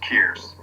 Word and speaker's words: Kearse: So it's Kearse, so it rhymes with Pierce. Kearse.